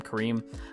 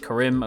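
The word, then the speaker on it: Karim: pronunciation last week I think I called him Kareem apparently it's pronounced chorim according to this week's episode I do want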